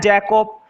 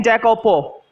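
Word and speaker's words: Jacopo: पढ़ते हैं इसको जैकोब, जो लास्ट वाला ओ है ना उसे नहीं पढ़ेंगे, कुछ लोग गलत प्रोनाउंसिएट करते हैं जैकोपो, तो जैकोपो नहीं पढ़ा जाएगा, सिर्फ जैकोब पढ़ा जाएगा। और जैकोपो पढ़ोगे भी तो भी कोई गलत बात नहीं है, पढ़ सकते हैं, बट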